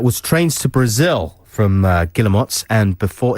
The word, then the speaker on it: Guillemot: That was Trains to Brazil from Guillemots, and before... Is that how you pronounce it? Yes. Guillemot. Before that, you heard the Kooks with She Moves in Her Own Way.